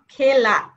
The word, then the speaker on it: খেলা: আ এর মত হয় অর্থাৎ এক কার যুক্ত ধাতুর সঙ্গে আ প্রত্যয় যুক্ত হলে সেই এ এর উচ্চারণ কি হয় এর মত মানে একার এটা কি দয় কার আমরা এর সঙ্গে যখন আ যুক্ত করব তখন সে তারও উচ্চারণ কি হবে আ এর মত হবে যেমন খেলা আমরা এ ধ্বনির কয়েকটা